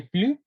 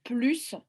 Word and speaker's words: plus: alors quand vous mettez quand vous prononcez le S de plus ça veut dire que vous cuisinez davantage vous cuisinez plus par